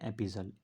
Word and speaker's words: epistle: Next है एपिजल, इसको पढ़ते हैं एपिजल। इसकी स्पेलिंग होती है EPISTLE।